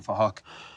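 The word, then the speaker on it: Phuc: We're spelled with a PH, so it sounds like Fahak.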